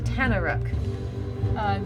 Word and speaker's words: Tanaruk: The second creature is a Tanaruk. Spell it? Tanaruk.